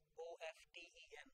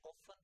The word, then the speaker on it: often: As I mentioned last, in that the same spelling, O-F-T-E-N, often and often. So both are okay and does not change any meaning, change in the meaning.